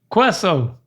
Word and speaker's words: queso: Queso. The so is right. So the QUE is more of a QAY. Queso. Maybe more of a KAY. Queso. You ever heard of that? You ever heard of queso?